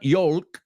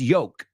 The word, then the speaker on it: yolk: uh y l k silent L it's not Yol it's yoke like my folks like yolks right and